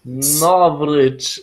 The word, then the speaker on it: Novritsch: Novritsch, like Novritsch. Novritsch. Yeah. Like a Russian name, even if I'm not Russian.